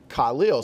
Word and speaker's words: Khalil: oh Mack but but forever everyone was just calling him Khalil and then he just he did a video saying no my name is pronounced Khalil so I actually kind